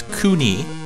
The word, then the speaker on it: Kewne: I was pronouncing it completely incorrectly. It's Kewne.